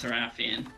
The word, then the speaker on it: Seraphine: I think it's pronounced Seraphine, but I could be wrong. Does anyone have rockets? Yeah. Thank you. Yeah, Fizzy is right on the pronunciation, but a lot of people call them Sarah for short.